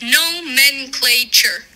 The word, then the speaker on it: nomenclature: that oh okay well it's no men clay chair and it's part of